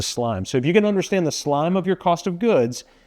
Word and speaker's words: SLME: cost of goods right if you can get this acronym, SLME, with what looks like an I in the middle to help us pronounce it, into slime.